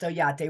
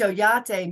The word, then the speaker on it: Oyate: Yeah, and it's pronounced Oyate, which you pronounce it wonderful, which Oyate means my family, my tribe.